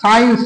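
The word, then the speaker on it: science: যেমন ধর আমরা সাইন্স কথাটা লিখছি এস সি আই এ সাইন্স দেখ সাইন্স এখানে দেখো যে আমরা কিন্তু সি এর উচ্চারণ এখানে পেলাম না তাহলে আমার বলা কি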